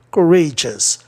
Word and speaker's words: courageous: Courageous. Além do mais, G-U-S, todinho, né? É um sistema especial. Então a palavra é paroxítona, tá? E não proparoxítona.